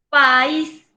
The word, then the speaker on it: país: porque termina en n país y secará también la voz en la última sílaba también lleva acento gráfico o tilde porque termina en s conclusión las palabras agudas